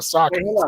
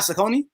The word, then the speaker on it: Saucony: There was a Saucony run, I'm sorry, that everybody did where a lot of influencers got Saucony. It's not Saucony?